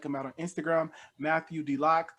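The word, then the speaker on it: Deloch: out on instagram matthew d lock that is pronounced um d-e-l-o-c-h i was contemplating with the lodge or d-lock but um i did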